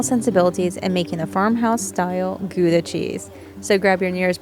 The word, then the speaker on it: Gouda: It's pronounced more like Gouda, I think, there, but through diaspora, now there are several ways to pronounce this cheese, based on regional dialects and accents.